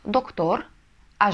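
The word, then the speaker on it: doctora: правило у нас следующее если слово заканчивается на гласную либо на N и либо на эссе то ударение у нас падает на пред последний слог Ну например Давайте сразу посмотрим на примере мужчина доктор у нас доктор А женщина доктор мы скажем доктора доктора Почему Потому что А это гласная значит ударение мы должны поставить на предпоследний слог доктора на второй слог с конца Это пример довольно очевидный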